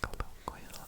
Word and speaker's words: colloquial: Colloquial. Again, another good like word with the collo. But there's the L sounds in there, too. And there's a Q sound technically in there. Colloqual. Four syllables in that one.